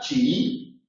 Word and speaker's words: chií: Si es aguda, chií, se acentúa. Pero chiita o chiismo es llana y por lo tanto, como palabra llana, no se acentúa.